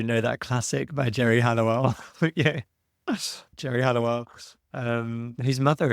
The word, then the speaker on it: Halliwell: Halliwell. She's Spanish. I pronounce it the Spanish way.